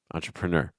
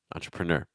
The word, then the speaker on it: entrepreneur: how to pronounce entrepreneur so entrepr and then stress and then Nur entrepreneur entrepreneur so make sure that this stress are got on N weon raise the pitch everything else before that droing pitch all right